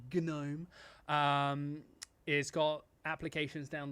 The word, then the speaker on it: GNOME: or gnome is actually is how it's actually pronounced gnome um is got applications down the left side